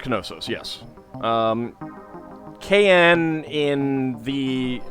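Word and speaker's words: Knossos: Uh it it should be pronounced Konosus. Yes. um KN in the like we've dropped the K from a lot of those but it it should be uh Kosis.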